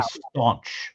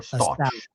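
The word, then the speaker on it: Stauch: How do you pronounce her name? Stalk because I know people say staunch but it's there's no N right? Is it stalk? It's just stalk or stouch.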